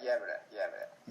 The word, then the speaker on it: Gävle: Yeah, Gävle. Gävle. Ah, right. I'm getting my Gävle. Swedish pronunciation correct.